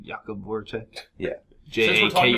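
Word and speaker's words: Jakub: It's not Jacob. It's like Jakob Voracek.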